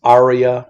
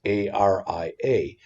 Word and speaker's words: ARIA: I heard it pronounced ARIA or just ARIA.